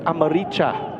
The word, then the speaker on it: Amaricha: And Nahuel Amaricha is there. So that is actually Nahuel Amaria, as we would pronounce. We clarified with team management, with Argentine Spanish, with that language, it's Amaricha. Maricha.